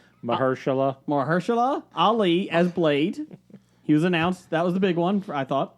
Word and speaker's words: Mahershala Ali: Somebody said they wanted to hear you pronounce his name. Mahershala Ali as Blade.